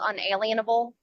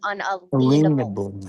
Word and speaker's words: unalienable: Um, the word that everyone calls unalienable proper pronunciation for it is unalenable because they cannot put a lean upon our rights. They are unalenable rights.